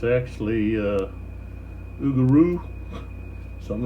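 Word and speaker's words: Augereau: of these yeah I just realized I've been pronouncing aier and it's actually uh Ugo something like something like that oaro the uh core Commander for the seventh general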